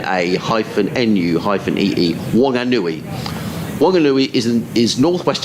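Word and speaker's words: Whanganui: wanguni w-h-a-n-g-a-n-u-i my husband emailed yesterday this is pronounced oh here we are wong an nui w-o-n hyphen a hyphen nu hyphen ee wonganui wanganui is in is northwest of wellington on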